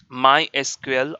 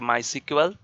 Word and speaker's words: MySQL: of databases like a my SQL or you can pronounce like a my sequel then Oracle Oracle then